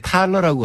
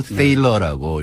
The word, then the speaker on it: Thaler: 먼저 THALER인데 우리나라에서 이렇게 번역이 나올 때 탈러라고 한 데도 있고 세일러라고 이렇게 네. 발음한 것도 있는데 이분이 독일 출신이에요. 그러니까 아마 집안에서는 탈러라고 부를 것 같아요. 탈러. 네. 그래서 이제 미국에 사니까 미국에서 커서 살아니까 이제 사람들이 전부 세일러라고 부르니까 네. 세일러라고 부르는 게 이제 맞을 것 같고요.